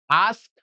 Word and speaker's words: asked: Now here keep in mind there is ed at the end but it will not pronounce that a do not do the not the ending sound. No the sound which come will at the end will be to t sound. Okay to so asked asked.